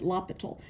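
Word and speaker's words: L'Hôpital: French mathematician and so his name is pronounced uniquely not exactly as it looks like it should. So the H is extremely silent lapal.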